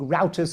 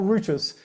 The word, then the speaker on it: routers: They made the the routters or I think routers as you do the you Americans say routers or routters. Anyway, um I say routters.